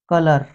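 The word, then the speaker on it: colour: एक spelling special है और यह कलर यहां पर अ की साउंड बनेगी ओ नहीं बनेगी अब यहां पर लेले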